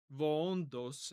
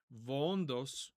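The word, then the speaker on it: βοῶντος: So if you hear me pronouncing it with a V, that's just because I'm trying to use modern Greek pronunciation.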